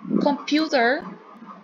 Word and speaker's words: computer: Como mostré al comienzo, que era computer, era en la segunda sílaba, se acentuaba acá.